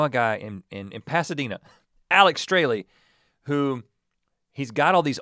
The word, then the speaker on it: Strahle: The first time I talked about Alex when we talked about Believe Me, I mispronounced his last name. I think I said Strahl. Oh. Straley.